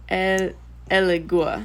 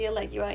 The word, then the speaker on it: Elegua: Eligua. Elegua? Just Eligula? just think about it for two. You're rushing it. Just think Well, about it's the pronunciation. Elegua.